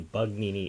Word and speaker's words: Bugnini: have to realize that his Excellency insists on that pronunciation for bugnini so when you when you hear it don't don't be distressed it's it's the same person well it's an anglicized version of it bug nin uh so uh you know we could call the reading pronunciation perhaps yes I think it